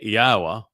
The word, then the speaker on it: Yahweh: Meanwhile, on this occasion, making a transition and focusing on what follows, thusly Yahweh, which is the proper pronunciation of Yahweh, our Eloah, God, as